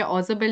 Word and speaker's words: Ausable: ठीक है, ऑजबल नाम है, लर्न करो स्पेलिंग, इट्स AUSABLE.